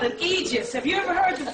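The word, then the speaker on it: aegis: THEM, NOW THEY HAVE THESE THINGS CALLED an eegis. HAVE YOU EVER HEARD THE PHRASE EEGIS? It's spelled a e i.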